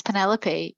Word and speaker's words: Penelope: It's Penelope.